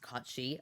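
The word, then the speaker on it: Cait Sith: But the name is from Celtic mythology, but cat is Kate Sith. I got some facts for y'all. What up? Drop some facts. So Kate Sith means fairy cat in Scottish Gaelic and is pronounced Cotshi, a fairy creature from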